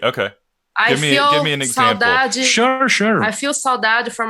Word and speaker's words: Saudade: Okay, it's SAU DADE. Saudade. Yeah. But you pronounce like G. Saudade.